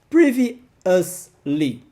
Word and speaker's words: previously: Previously. Sim, eu tô falando aqui bastante da pronúncia porque são palavras mais complicadinhas.